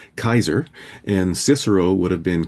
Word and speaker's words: Caesar: Like Caesar Caesar himself would have called himself Kaiser and Cicero would have been Kickaro.